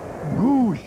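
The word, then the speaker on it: Gwosdz: stop DG the catcher he spells it GW s DZ pronounced gou and Ed witson will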